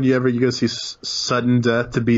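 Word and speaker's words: SVDDEN DEATH: Because we all know that everybody wants to pronounce his name Savudden Death because that sounds better than boring sudden death, right?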